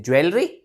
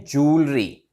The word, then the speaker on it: jewellery: ज्वेलरी। ज्वेलरी, wrong guys. ज्वेलरी इसकी correct pronunciation नहीं है, इसकी करेक्ट प्रोनाउंसिएशन है जूलरी। जूलरी, जूलरी, like that, exactly like that, जूलरी।